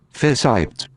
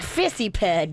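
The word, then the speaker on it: fissiped: That looks like fissy-ped to me.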